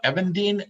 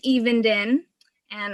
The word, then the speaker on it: Evenden: if you could come on um evan dean is did i pronounce that correct you are from i think you're from uh idaho right no it's it's even and i am from sweet home oregon oregon i